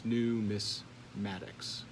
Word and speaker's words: numismatics: Coin collecting and collecting of medallions, as well as currency, are all referred to as numismatics. Or here's my high-tech tool so you can know how to pronounce it. That's numismatics.